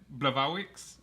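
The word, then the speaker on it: Błachowicz: there was um jan blavarwicks uh it says it's spelled black wicks but yeah it's like yeah yeah something like that since he's polish it's pronounced differently he um knocked out dominic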